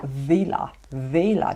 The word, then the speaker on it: Wella: Actually they are called Vela because they are a German brand. I'm not sure exactly how to say it, but in German W is spelled V, so Vela Tone by Vela.